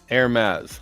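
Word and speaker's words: Hermès: Hermes. The H is silent.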